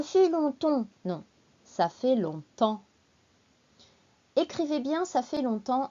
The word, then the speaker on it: longtemps: en français ça fait longtemps ça fait longtemps que blablabla allez c'est parti on commence d'abord par l'explication du mot longtemps tout d'abord la prononciation long temps attention ces différents c'est